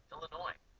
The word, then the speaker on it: Illinois: when you're dealing with nouns that end in a silent s like Arkansas and Illinois some people add an